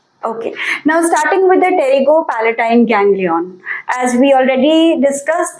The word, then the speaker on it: Pterygopalatine: the Tero Palatine FAA it starts with p where the p is silent so you call it as Tero Palatine gangon right okay so